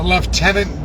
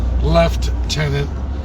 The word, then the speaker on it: lieutenant: The left tenant governor of Alberta, even though it's spelled lieutenant, but they use our military term left tenant.